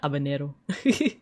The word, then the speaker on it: habanero: Yeah, the H is silent. Yeah, Abanero.